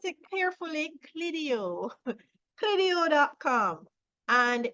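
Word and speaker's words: Clideo: Let's pronounce it carefully, Clidio.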